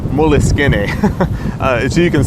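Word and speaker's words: Moleskine: choice that I have is actually called a moleskin or that's what people call it it's actually pronounced Willis skinny so you can say that and have people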